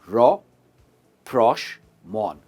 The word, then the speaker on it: rapprochement: मैं जानता हूं इसकी प्रोनाउंसिएशन थोड़ी सी डिफिकल्ट है, अब मेरे साथ ट्राई कीजिए। रॉप्रोशमॉन, रॉप्रोशमॉन, रॉप्रोशमॉन। I hope this rapprochement will clear all the bad air between the tech companies.